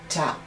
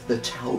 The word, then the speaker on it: Tau: Tau, T, or number, or, oh, by the way, it could be pronounced Tav as well.